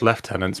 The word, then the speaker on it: lieutenant: Sigma oh yeah well is pronounced lieutenants because we like to do whatever the hell we want as the British people with our E's and the eyes and they're used to make weird sounds okay it was asked